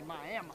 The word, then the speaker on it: Miami: Locals say Miami. Huh. Miami. A little bit of Louisiana came in. Cajun man, Miami.